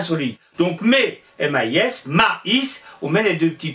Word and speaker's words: maïs: Regardez le mot mais, M-A-I-S. Ben, mais, le A-I se prononce E. Si on veut avoir maïs, il fallait trouver quelque chose. Et qu'est-ce qu'on a trouvé? Ben, de mettre deux petits points sur la deuxième lettre.